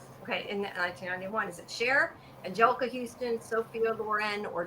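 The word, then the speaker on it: Cher: Why do I keep saying chair? Like I don't know how to pronounce share. You know, you know Sher was Sher was uh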